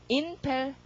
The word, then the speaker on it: impel: impel. impel. 소리가 im 이렇게 나와야 되죠. P 스펠링 RP니까.